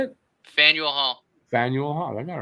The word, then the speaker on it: Faneuil: there you go how do you say it faneuil hall samuel i got it right yep my